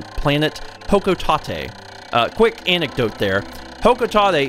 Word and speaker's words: Hokotate: Hokotate is the correct pronunciation, at least from what I have been able to tell.